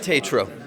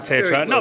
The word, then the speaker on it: Tetreault: Have I pronounced that right? Tetreault. Tetreault.